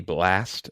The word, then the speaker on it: Blxst: Next for me, number 7 would be Blast. I don't know if this is how necessarily pronounce his name because he spells it BLXST, and this is Before You Go.